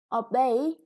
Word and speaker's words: obey: water and the egg obey is a verb the second syllable is stressed when you obey somebody